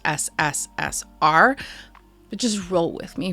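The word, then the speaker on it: СССР: CP and I know in cilic that's actually pronounced sssr but just roll with me for the sake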